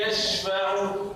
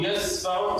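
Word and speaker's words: يشفع: Misalnya, ketika baca ayat kursi, Man dzalladzi yashfa'u. Jangan baca man dzalladzi, ya. Yashfa'u, yasfa'u, salah.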